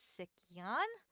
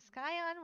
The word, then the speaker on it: Sikyon: can't even pronounce it i don't know if it's sickion i was calling it sky on which is 100 wrong it's s k i y s i k y oh it's different than what i'm used to yes i'm starting to think it's s-i-k because it is it's like you would spell sick s-i-k-c-k but sick y-o-n and the reason i